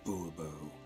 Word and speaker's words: Bourbeau: Fine, Monsieur de Bourbeau. The emphasis falls on the last syllable.